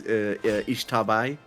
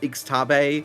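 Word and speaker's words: Xtabay: Because I play Guacamelee, and one of the main antagonists is Ishtabai. Mm-hmm. Which I pronounced Ixtabe, and I was corrected by the Gua community.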